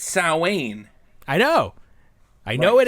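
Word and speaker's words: Samhain: Sam Hayne. That's annoying. Sam Juan. People No. Everyone was calling it Sam Hayne. No one knows the correct Gaelic pronunciation. It's It's Sain.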